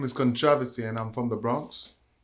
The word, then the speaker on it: Kontravasy: are and where you're from my name is controversy and i'm from the bronx bronx born jamaican